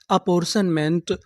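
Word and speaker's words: apportionment: यानी आपको इंग्लिश में कहीं पर टी आई ओ एन लिखा मिले तो आपको क्या पढ़ना है? शन। तो इतनी मीनिंग क्या बनी? अपोरशन। अपोशन एम एन टीमेंट। पूरी मीनिंग हमारी क्या बनी? अपोशनमेंट। अपोरर्शनमेंट।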